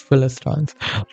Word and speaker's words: Philistines: with um Philistines okay I think I was mispronouncing it the whole time it's Philistines but okay now it makes